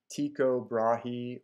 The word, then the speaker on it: Tycho Brahe: different ways such as tico brahe or but i prefer to follow the pronunciation of the danes themselves who pronounce it like